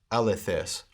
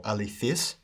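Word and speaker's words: ἀληθής: these will follow the word alethes or alifis which is an adjective meaning true here we have alec alethus face alethon alethesin alifays modern pronunciation alifis alithus alithe alici alifis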